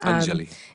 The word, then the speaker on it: Anjali: Basically, so people don't know that the name Anjali, that's really how you say it. Anjali.